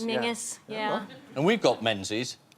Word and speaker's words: Menzies: And you have Menzies up in Scotland, which is pronounced Mingus. Mingus, yeah.